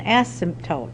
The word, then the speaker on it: asymptote: ever touches it so and they call an asymptote that's how you say it this L stands